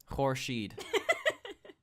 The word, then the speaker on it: Horshid: It does not mean horse shit. Okay, Horshid, it means the sun in Persian, okay? Nobody can pronounce the city we live in except Okay. Okay, so it's kind of like a Q at the start.